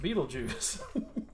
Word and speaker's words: Beetlejuice: Yeah, but it's still pronounced Beetlejuice.